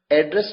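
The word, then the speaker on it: address: next अब आपके सामने एक ऐसा वर्ड है जिसकी दो अलग-अलग प्रोनंसिएशन है प्रोनंसिएशन का मतलब उच्चारण देखिए वर्ड है A double D आर E double S एड्रेस एड्रेस मतलब पता और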